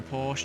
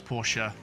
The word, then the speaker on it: Porsche: colliding with the barrier please no porsche just leave me alone no it's porsha and i'm distracting myself